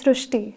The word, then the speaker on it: Srushti: So in Marathi, the word Ri is pronounced as Ru. So that is why the pronunciation goes Srushti.